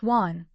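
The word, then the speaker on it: 蔓: Man is pronounced Juan, not man. The students now call my sister Shing Man, pronouncing it as man. When together as tonguan vine, the latter is pronounced Juan. When together as want and vine, the former is pronounced man.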